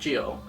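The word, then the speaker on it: Gyo: juni's more renowned stories Gil or pronounced Gio it is the story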